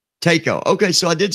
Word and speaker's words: Tako: Pronounce your last name, because I don't think I'm saying it right. Tako. Tako.